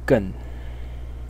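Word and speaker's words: 艮: which is this one over here and the pronunciation of this part is gun in the fourth tone and its meaning is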